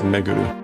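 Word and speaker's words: めぐる: Um, so this is normally pronounced Meguru to go around.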